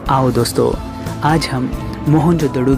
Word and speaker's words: मोहनजोदड़ो: आओ दोस्तों आज हम मोहनजोदड़ों की गलियों में घूमते हुए हमारी प्राचीन सभ्यता के गौरवपूर्ण अतीत को महसूस करने की कोशिश करते हैं है मोहनजोदड़ों शब्द का सही उच्चारण है मोहनजोदड़ों और सिंधी भाषा में